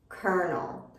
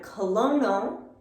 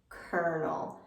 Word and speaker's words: colonel: military for example so the way we pronounce this word is not with an l sound at all here we make an er sound kernel kernel and it's